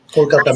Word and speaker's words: Kolkata: And I'm half Bengali too, but from Kolkata, I believe it's pronounced. So. Kolkata now, yeah. It's like used to be Calcutta, now it's Kolkata.